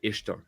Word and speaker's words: Ishtar: Ishtar is pronounced Ishtar, not Easter.